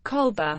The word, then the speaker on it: Colbert: the Great Famine originally his surname was pronounced culprit Colby Artie in English Stephen Colbert's father